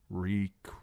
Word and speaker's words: Reek: Reek, Reek, it rhymes with leak.